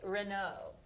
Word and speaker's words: Renault: we're staying big with this 48 mm Lotus Renault is that how I pronounce that uh yes Lotus is uh from